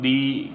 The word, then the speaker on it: the: Number B पर लिखा हुआ है THE is pronounced as द before द words with consonant sound.